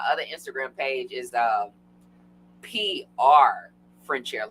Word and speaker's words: Frenchaire: social, so I am Frenchaire at Frenchaire, and on Instagram and Facebook. So my name is spelled French, then air, E at the end, Frenchaire.